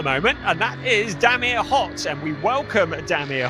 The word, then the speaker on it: Hott: Right, there is a driver at the top of the timing screens at the moment, and that is Damir Hott, and we welcome Damir Hott.